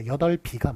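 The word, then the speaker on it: 여덟: 자, 그런데 원래 발음이 8이일까요? 8비일까요? 그거 비읍이 뒤로 넘어가요. 그래서 8비가 맞아요.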